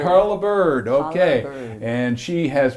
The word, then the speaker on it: Holabird: Am I pronouncing that right? Holabird. Holabird, okay.